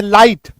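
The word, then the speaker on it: light: दिखे, IGH दिखे, जैसे लाइट, फाइट, माइट, राइट, RIGST, ऐसे शब्दों में आप देखिएगा G और H जो है ना वो साइलेंट हो जाएगा। ये देखिए जैसे LIGST है, GH साइलेंट हो गया।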